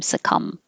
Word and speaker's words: succumb: cordon cordon monday sakum anytime you see the m b the b is silent so just close your lips for the m succumb a voiced like shh